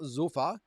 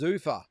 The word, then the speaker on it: Zuffa: Drew, just a side note, the pronunciation of Zuffa is like saying Zuffa. All right, so it's not Zuffa, it's Zuffa.